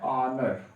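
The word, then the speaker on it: honour: ध्यान रखिएगा, इसके साथ आप क्या लगाएंगे, आर्टिकल एन लगता है, ध्यान रखें, जैसे आवर, ठीक है, इसका उच्चारण होता है ऑनर, इसका उच्चारण आप करते हैं आवर, ठीक है। इन दोनों के साथ है आर्टिकल ए लगाने का प्रयास न करें।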